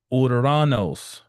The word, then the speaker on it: Uranus: Now, I used to pronounce it in its Greek rendering, but I'm I'm I'm lazy, so I stopped doing it.